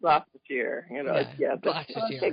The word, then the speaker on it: Gloucestershire: Gloucestershire. Gloucestershire.